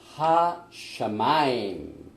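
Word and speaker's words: הַשָּׁמַיִם: 하샤마임, 이건 하늘. 베엣, 이것도 영어 성경이나 한글 성경에는 번역이 안 된 말씀입니다. 그 다음에 하아레츠. 그래서 베레시트 바라 엘로힘 엣 하샤마임 베엣 하아레츠.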